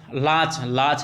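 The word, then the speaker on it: latch: दूंगा, एंड, और क्या लाच है, टी साइलेंट होगा, लेट थोड़ी पढ़ सकते हैं, लेट बोला भी नहीं जा रहा यार, तो टी काट दिया इसमें से, समझो ना, लाच, ठीक है ना, लाच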